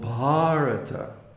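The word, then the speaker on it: भारत: some of the cases the possessive is formed by lengthening the first vowel so king parita his country was called bharata see with a long a so that's the real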